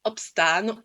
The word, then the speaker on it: opstaan: Dans le troisième verbe, opstaan, on a 2 A, donc on sait que c'est automatiquement un son long.